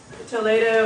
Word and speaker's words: Toledo: um important to Toledo to to Toledo if you're you pronounce it like Spanish okay yeah it it's